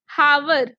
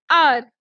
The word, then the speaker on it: hour: Now it's starting with H, but we are not saying hour. We call it R.